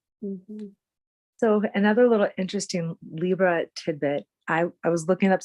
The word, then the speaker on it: Libra: I was looking up some things about Libra, and I found an article that said that actually, if we really broke down the correct pronunciation of Libra, it would be Libra, like a library or a Yes, librarian.